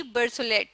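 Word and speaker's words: Berthollet: लेते हैं French chemist जिनका नाम था लुई बर्थ एट ठीक है Louis बर्थ एट बर्थ एट की स्पेलिंग लिख लेती हूं बी आर टी एच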